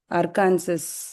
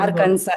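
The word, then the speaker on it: Arkansas: எப்படி படிப்பாங்க? அர்கான்சஸ். இல்ல, அர்கான்சாஸ்னு சொல்ல மாட்டாங்களே. அந்த நியூஸ் எல்லாம் கேட்டா கரெக்டா சொல்லுவாங்க பாருங்க. ஆர்கன்சான்னு கட். ஆர்கன்சா. எக்ஸாக்ட்லி சரியா, ஆர்கன்சா.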